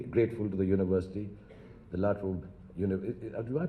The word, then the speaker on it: La Trobe: I'm deeply grateful to the university, the La Trobe University. Do I pronounce it right? La Trobe.